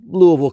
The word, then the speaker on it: Louisville: experience at Waverly Hills sanatorium just outside of Louisville Kentucky being from Kentucky I know how to pronounce it correctly it's Louisville not Louisville or